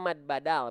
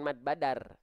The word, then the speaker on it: mad badal: Thobi'i ya salah ya nama hukum tajwidnya mad badal bukan Mad Badar mad badal ya gitu